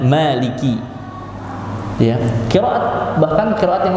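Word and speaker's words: مالك: Mimnya itu pendek. Tapi kalau qiraat kita, yakni yang masyhur di dunia ini qiraat Hafiz an Asim. Qiraat Hafiz dari Asim. Itu bacanya pakai mad. Bacanya pakai mad, Maliki.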